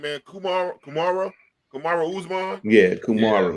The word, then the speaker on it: Usman: How you pronounce this goddamn dude name, man? Kumara Usman? Yeah, Usman.